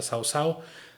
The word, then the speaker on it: Cao Cao: primer ministro, el general Cao Cao o el general Sao Sao, porque en chino se pronuncia Sao Sao, se escribe cao en español.